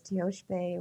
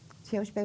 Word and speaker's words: Tiospaye: Teoshpe is spelled Tiospaye. Wia is Winyan, Maka, Maka. And you'll notice that in the Lakota language, S's are pronounced sh and C's are ch. So anyway, Teoshpe Wiamaka.